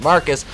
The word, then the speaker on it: Marquis: and using it to fix marquis pronounced marcus because he's [ __